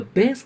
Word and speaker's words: bass: The bass clef, pronounced bass, is used for notes in the lower pitch range.